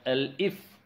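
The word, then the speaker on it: elif: Else if SE is not there, just pronounce it as L if. Then in condition marks greater than 60 and marks less than equal to 80, then print, you have scored grade B. Similarly, L if marks greater than 40 and marks less than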